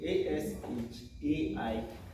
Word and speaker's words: Ashai: It should be ASHAI, not IE.